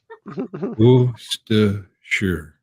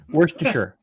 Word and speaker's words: Worcestershire: No, there's no sh. It's Worcestershire. Sarah was over there. Worcestershire.